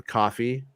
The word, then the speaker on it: Kofi: And so if you read Bespin Bulletin like I do, you could support him on Coffee. It's spelled Kofi.